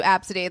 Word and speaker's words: Abcde: Don't do Absidy. That woman who was just like, they made fun of my kid's name, and it was like Yeah. ABCDE, and she's like, it's pronounced Absidy, and I'm like, don't